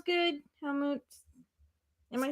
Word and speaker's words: Helmut: That sounds good, Helmut. Am I saying that right? Yeah, he wants to be called Helmut because that's how you pronounce it. Okay. Yes, Helmut.